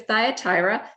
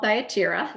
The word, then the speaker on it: Thyatira: in number four uh the city of thyatira sometimes called thyatira you'll hear it pronounced both ways because again remember all of those ancient titles uh that were greek back then they get transliterated in different ways and pronounced in different ways so i'm not fussy about it i don't care which way you pronounce it but we're just